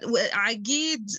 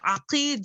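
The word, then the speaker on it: عقيد: Syrian quote unquote speaker, that Aqid is used in that kind of like pronunciation only to refer to this kind of like macho man, but Aqid as kind of like a military rank would be pronounced with qa, not ga.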